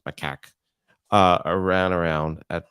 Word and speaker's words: macaque: drawings of macaque monkeys that's how that is how you pronounce my CAC uh I ran around